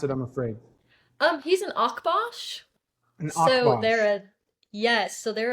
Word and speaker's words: Akbash: other dog cross that I He would just mispronounce it, I'm afraid. he's an Akbash.